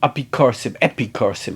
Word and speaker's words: epikorsim: You know that there are people called epikorsim actually, if you're going to be completely accurate about how to pronounce it.